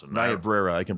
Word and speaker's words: Niobrara: I could never pronounce it. Niobrara, I can pronounce for you.